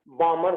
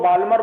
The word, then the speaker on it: Balmer: चलिए आगे सेकंड आती है बामर सीरीज। कुछ लोग बाल्मर बोलते हैं, कुछ लोग एल साइलेंट कर देते हैं, बामर सीरीज कहने लगते हैं।